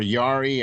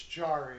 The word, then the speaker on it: Jarry: know what i mean jari just or yari or however you say his name just doesn't give me warm fuzzies it's jarry yeah he's not from europe so we say that he's not mexican okay so jari is